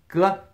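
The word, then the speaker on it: 哥: G, pronounced g.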